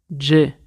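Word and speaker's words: Gay: Donc, David Jay, ça s'écrit G-A-Y.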